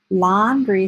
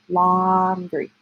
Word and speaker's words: laundry: the cake long a laundry says ah like octopus short oh that's an unusual spelling pattern but we pronounce it like it's Oh laundry laundry detergent let's look